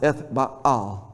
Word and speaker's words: Ethbaal: His name actually in the Hebrew is Ethbel. You actually would pronounce it Ethbaal, but that's a whole other thing.